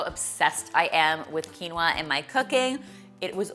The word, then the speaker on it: quinoa: quinoa you'll now know how because it's written phonetically on the package quinoa it's safe to say when it comes to